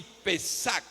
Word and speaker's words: Pesach: origen del hebreo, la palabra se define así, pesac E acento en la e s a c h.